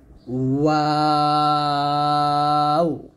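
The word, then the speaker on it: واو: তারপর হচ্ছে ওয়াও। দুই ঠোঁট গোল করবেন, দুই ঠোঁট গোল করে ওই ঠোঁট থেকে ওয়াওটা উচ্চে নিয়ে আসবেন, ওয়াও এরকম।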